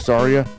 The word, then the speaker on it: Saria: thought they were pronounced I thought uh what was it I thought was Seria instead of Saria I thought it was